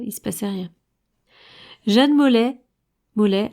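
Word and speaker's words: Maulet: Jeanne Mollet, alors pas pareil, hein, ça s'écrit pas pareil. C'est M-A-U-L-E-T.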